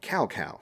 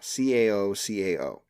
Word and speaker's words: Cao Cao: Originally in the Warriors games, one of the generals of the Wei Kingdom was called Cao Cao, Cao Cao. But that's actually a mispronunciation of his Chinese name. It's Cao Cao.